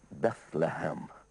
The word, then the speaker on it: Bethlehem: And it was pronounced Bethlehem.